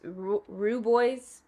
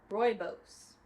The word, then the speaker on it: rooibos: Pumpkin spice rooibos. You know what? Let's ask Google. Really? Rooibos.